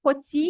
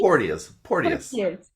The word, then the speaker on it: Porteous: Portier? Porteous. Portier. And it's almost like Portier in French, so it's kind of like sexy at the same time.